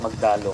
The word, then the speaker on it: Magdalo: And by the way we pronounce it magdalo kasi kasi yung magdalo kila Aguinaldo yun eh.